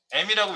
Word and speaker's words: em: 어떤 분은 EM이라고 읽는 분도 있어요. 계속. M이라고 읽으세요. 이거는. 네.